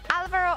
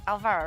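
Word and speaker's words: Álvaro: believe there is uh normally an accent on the A, but you don't see it in the in-game nickname. So, it's Alvaro and not Alvaro, right?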